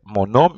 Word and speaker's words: homme: And then you will see also we said H is also silent. So H, you will say always mon homme. My man is mon homme because H is silent.